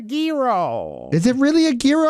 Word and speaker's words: gyro: was pain uh what how do you pronounce the Greek sandwich that they carve all gyro uh that is incorrect as Gordon litty the lake Gordon ly would have told you it is a Giro is it really a